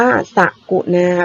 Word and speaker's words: สกุณา: ไป ค่ะ สกุล อ้า อ่าน ว่า สกุณา แบบ นี้ นะ คะ สกุณา ก็ คือ นก